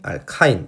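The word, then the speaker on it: alkyne: 번역상의 차이로 이제 실제 발음은 알케인, 알킨, 알카인 이런 식으로 나왔지만 예전에 이제 번역할 때는 대한어학에서 번역을 할 때는 알칸, 알켄, 알킨 이렇게 번역을 해서 둘 다 제가 혼용을 하고 있어요.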